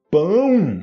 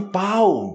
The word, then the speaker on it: pão: é pão duro Ok cuidado com a pronúncia de pão Ok não fale pau porque você já sabe que pau pode Pode ser né pau T então se você falar pau duro aí tipo seja tem que est boa a pronúncia tem que est em ordem então pão duro Ok pão duro Então tem que ter cuidado com essa pronúncia Ok então você fala pão duro pão ão pão duro ou também uma